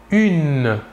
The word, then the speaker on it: une: une il s'écrit humaine il faut bien différencier la prononciation entre le masculin et le féminin au masculin 1 et au féminin une voilà encore deux exemples